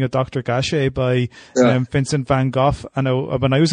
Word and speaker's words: Van Gogh: you give me that your Dutch is a fine go or Van Gogh is in Dutch okay oh you cannot say because that's sort of this guttural sounds is a sort of typical Dutch but but that's the the Dutch pronunciation okay okay so quite